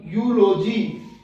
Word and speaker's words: eulogy: Next, ई के साथ यू हो तो यू, यू की साउंड आएगी। जैसे इस वर्ड से देखते हैं, EUGENIC, यूजीनिक। EULOGY, यूलॉजी। EUNUCH, यूनक। EUPHONY, यूफोनी। EUROPE, Europe.